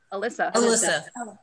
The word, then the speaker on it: Alyssa: Is Alicia or Alyssa? How do we pronounce it? Alyssa.